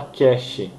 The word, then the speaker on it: cache: ea memória cash cash como se escreve será a ch aí mas se fala cash é casa cheia não é caixa é cash dinheiro inglês cash é ea